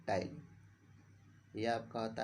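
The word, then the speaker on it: ptyalin: ये पी जो लिखा होता है वो साइलेंट होता है, ठीक है ना। पी साइलेंट होता है, तो पी को छोड़कर हम तब नाम पढ़ते हैं।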